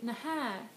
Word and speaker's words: naha: then you can say naha. And this is also you stress the last syllable instead, and you have this H.